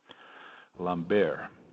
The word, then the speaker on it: Lambert: Brad Lambert. It's funny, we were not sure how to say the name, and the Finnish team said that it's pronounced in the French way, Lambert.